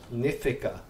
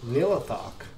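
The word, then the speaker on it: Nihlathak: when we played this game, we always said Nithica. I don't know why, but yeah. So I am having such a hard time pronouncing characters in this game by their real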